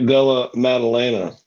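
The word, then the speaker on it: Della Maddalena: win so I didn't have to attempt to pronounce his name Jack Della madalina Jack Della madalena that's what I said and don't forget don't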